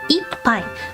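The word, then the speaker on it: 一杯: The way you count ramen is pai, ippai, or hai. Ippai.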